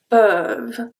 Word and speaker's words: peuvent: Peuvent. The last thing that I pronounce here is the V. Peuvent. I don't pronounce the E and the N and the T.